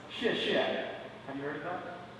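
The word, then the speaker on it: 谢谢: This is pronounced xie xie.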